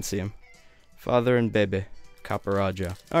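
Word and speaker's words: Copperajah: right word here's our copper jaw or copper raja whatever still has jaw on it i didn't realize i was saying it wrong the whole time yeah i'll leave him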